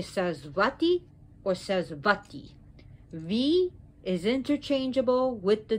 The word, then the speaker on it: Sarasvati: the omara and remember in sanskrit the v is interchangeable with the w so you could say says vati is interchangeable with the